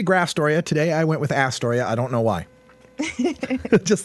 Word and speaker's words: Astoria: what I can folks it's Astoria because it's not a Storia John Jacob user was